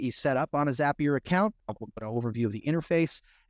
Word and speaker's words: Zapier: I'd also, just side note, some of you may pronounce it Zapier, some of like rapier, like a sword, because they're called Zaps. I figured it's called Zapier, but I'm just going to say Zapier.